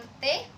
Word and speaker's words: petai: Misalnya, kata ramai diucapkan rame, petai diucapkan pete. Perubahan ini terjadi pada bunyi vokal rangkap ah ke vokal tunggal e. Penulisannya pun disesuaikan menjadi rame dan pete.